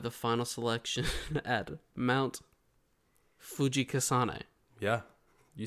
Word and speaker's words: Fujikasane: So to become a Demon Slayer, Tanji will have to be trained up and survive the final selection at Mount Fujikasane.